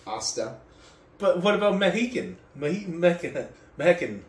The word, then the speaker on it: hasta: You've lived here how long and you don't know that there's no H sound in Spanish? In It's- Mexican. It said hasta. I can It's read. pronounced hasta.